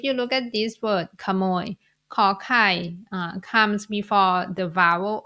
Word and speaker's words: ขนม: one is the word camo you are not going to pronounce it in a rising tone even though Kai is